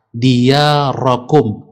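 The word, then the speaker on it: ديارَكم: Diyarakum, huruf ra-nya berbaris fathah.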